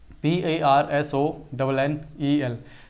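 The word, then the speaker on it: personnel: इसमें कुछ बच्चे जो है ना इसको गलत प्रोनाउंस करते हैं, दैट इज PAR। पहले मैं भी गलत प्रोनाउंस करता था, इसलिए मेरे को याद है। ठीक है, PARSONNEL।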